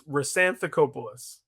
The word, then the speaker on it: Hrisanthacopoulos: It's Resantopoulos. Okay, I would not have even gotten close to that. is silent. The H is silent.